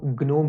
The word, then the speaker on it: GNOME: सबका अपना अपना प्रोनाउंसिएशन स्टाइल है, लेकिन जो एक्चुअल प्रोनाउंसिएशन है वो ग्नोम ही है।